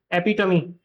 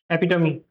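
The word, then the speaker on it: epitome: You have to pronounce this word, this letter as well. Okay, ये वाला जो last वाला ई है, एपिटमी, एपिटमी।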